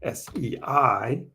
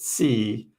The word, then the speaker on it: SEI: The other one that's been moving more recently is SEI, S-E-I. Some people pronounce it C. I call it SEI.